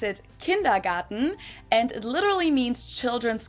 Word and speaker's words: Kindergarten: I already knew it Garden in German we pronounce it kindergarten and it literally means Children's Garden and even